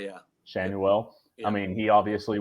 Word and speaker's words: Schanuel: I love Mickey Moniak, and tell me if I'm pronouncing this wrong. Nolan Schanuel. Shanwell, yeah. Schanuel.